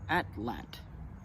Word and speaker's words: atlatl: was recently told that the correct way to pronounce atlatl is atlet and that's going to